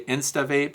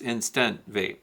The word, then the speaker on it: Instant Vape: I also have the ProVap, which is Vapor Vape, I don't know, but it's, you'll hear people say Insta Vape, it's Instant Vape.